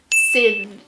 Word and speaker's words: Scythe: It is Scythe.